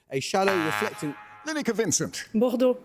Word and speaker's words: Bordeaux: Bordeaux. It is Bordeaux, yes, with much better French pronunciation than me.